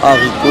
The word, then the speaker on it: haricot: Le mot haricot est un H aspiré parce qu'elle empêche la liaison avec les mots qui sont. C'est un H aspiré parce que le H muet ne s'entend pas vraiment. Avec le H muet, on peut faire la liaison avec un S. Comme par exemple homme, on peut dire les hommes. Mais haricot, on ne peut pas faire de liaison vu que c'est un H aspiré.